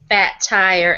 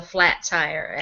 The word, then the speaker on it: Fat Tire: to mispronounce things, and I once infamously ordered a fat tire as a flat tire. Everybody made that mistake, though. So, it's like, what was it that, there are so many things that I mispronounce. I think so many people called it flat tire. I think more often than not, I heard it called flat tire than I heard it referred to correctly.